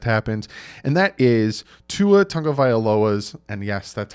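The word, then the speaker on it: Tua Tagovailoa: before the draft happens and that is to Otunga violas and yes that's how you pronounce it again I looked it up his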